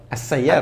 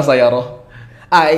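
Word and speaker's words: السيارة: Bacanya apa? As-Sayyarah. Kenapa enggak Al-Sayyarah?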